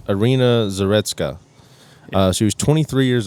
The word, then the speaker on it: Iryna Zarutska: Iryna Zarutska.